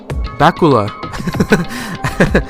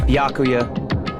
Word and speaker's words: Byakuya: Bakula. It's Byakuya. Byakuya. Oh shit, I've been saying it wrong the whole time.